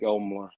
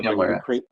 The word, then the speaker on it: Emler: CRK or to Mike Elmler. Emler, is that how you say his name? Emler? Yeah, Mike Emler.